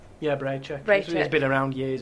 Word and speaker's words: Bracek: That's another name that I didn't know how to pronounce. Braycheck. Yeah, Braycheck.